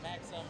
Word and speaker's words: Maxim: Maxim, like it's spelled with an I, but it's pronounced with a U.